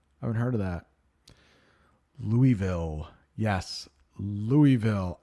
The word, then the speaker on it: Louisville: haven't heard of that Louisville yes Louisville I know there's an s in it but it is Louisville Louisville do we have anything